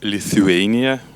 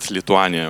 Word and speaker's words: Lithuania: from Kaunas Lithuania well we should pronounce it as Lithuania in English in correct way but I do not like it so let's keep it Latanya okay my background is